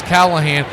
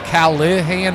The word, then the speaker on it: Callahan: And, of course, now the big picture is Callahan. By the way, it's spelled with an I, so it's Callahan, not Callahan.